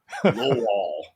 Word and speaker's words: Lowell: And you said it right. You got to roll that Lowell.